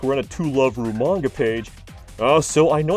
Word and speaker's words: To Love Ru: We get some camel action like we're in a To Love Ru manga page. So I know it's Toraburu, but much like Cybaster, I choose to pronounce it incorrectly.